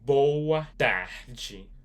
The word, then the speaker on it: boa tarde: Boach bachi.